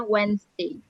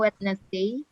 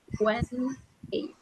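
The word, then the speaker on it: Wednesday: monday to wnessday ya jadi cara bacanya wedesday bukankan wetnessday tulisannya memang wness Day cara bacanya wesday l eat dinner PM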